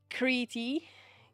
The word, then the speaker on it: Crete: Crete. Crete. In Czech we just say Kreta.